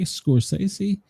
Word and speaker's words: Scorsese: Martin Scorsese, say it right, Scorsese.